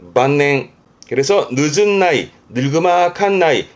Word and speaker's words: 晩年: 저문 저녁 때를 말했던 늦을만 저물만, 대표적으로는 만년, 발음은 만냉.